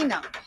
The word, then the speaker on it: Ena: How do you spell that? E-N-A. Ina.